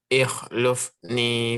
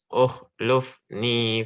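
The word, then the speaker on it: اخلفني: Ikhlufni fi qaumi. Bisa diulang. Ukhlufni fi qaumi. Kenapa dia dibaca U, tidak is? Itu karena apa? Huruf ketiganya berharokat dhammah. Iya, huruf lamnya ketiga ya, berharokat dhamma.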